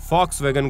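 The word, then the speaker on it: Volkswagen: के शब्दों से इस कार का ब्रांड का उच्चारण कर देते हैं लेकिन सही मायने में हम इसे फॉक्सवैगन के नाम से जानते हैं तो दोस्तों आज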